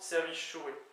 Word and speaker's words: servijourez: suis quasiment sûr, mais ça s'écrit, semble-t-il, Servijourez, S-E-R-V-I-G, pardon, S-E-R-V-I-J-O-U-R-E-Z, mais apparemment ça se prononce Servichoué, d'accord?